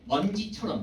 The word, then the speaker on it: 먼지: 그다음에 먼지처럼 얘는 지금 보세요. 먼지라고 발음을 하는데요. 이 먼지라는 단어 봤을 때 얘가 물론 니은 뒤에 지읒이 오기는 하지만 먼 자체가 용언의 뭐가 아니에요. 어간이 아니죠. 그래서 이런 경우에는 된 소리로 발음되지 않는다는 거죠.